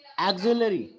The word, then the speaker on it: auxiliary: Auxiliary. X pronounced as za.